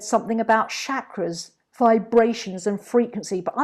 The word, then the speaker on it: chakra: just as katie returned chakra it's pronounced with a cha like chocolate not a shirt like